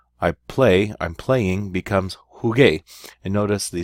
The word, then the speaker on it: jugué: Juego, I play, I'm playing, becomes jugué.